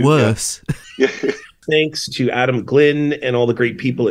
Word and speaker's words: Glynn: We want to thank Adam Flynn, all the great people at CJNU. Thank you for mispronouncing Adam's last name, because I thought I was the only one that got last names wrong. It's Adam Glynn.